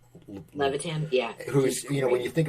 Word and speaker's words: Levitan: How do you pronounce his name? Levitan? Levitan, yeah.